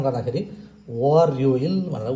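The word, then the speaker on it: 월요일: र यसलाई हामीले उच्चारण गर्दा खेरि वरइल भनेर उच्चारण गर्छौ।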